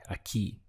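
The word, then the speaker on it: aquí: here is a key literally it sounds like a key in english but it's spelled obviously this way aki means here how would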